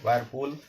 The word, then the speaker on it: whirlpool: वायरपूल होता है WHIRLPOOL, वायरपूल, यहाँ पे एल साइलेंट है, इसे कहते हैं भंवर।